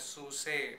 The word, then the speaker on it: SUSE: Okay, it's written as SUSE, but yeah. It's actually pronounced as SUSE. German style.